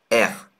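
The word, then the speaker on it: ers: ça se prononce un R. Le S ne se prononce pas.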